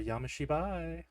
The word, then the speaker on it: Yami Shibai: have a look it's time for yamashi did I say right yeah you said it you said it right that time weird even when I